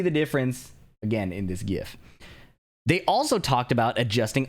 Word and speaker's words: GIF: So you can see in this GIF, which is the correct way to pronounce that, by the way, that they have